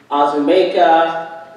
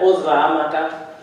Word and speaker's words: Uzoamaka: And I would have teachers or anyone, neighbors, try and say my name, and it would be Azumeka, Uzamaka, Uzakuza, any version that they could think of other than Uzamaka.